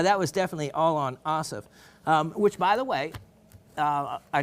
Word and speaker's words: Asif: A-S-I-F. That's it. Just it's very simple. A-S-I-F, Asif. There you go. Great way to, that is as if, pronounced Asif.